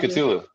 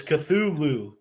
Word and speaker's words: Cthulhu: thinking too because yeah it's not katulu no no it's Cthulhu yeah yeah it's Cthulhu which kind of feels